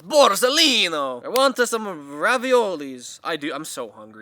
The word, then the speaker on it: Borsalino: You have to say it with that accent, though. It's not Borsalino, it's Borsalino!